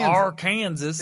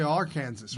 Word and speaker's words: Arkansas: So if you say Arkansas, it's supposed to be Arkansas, right?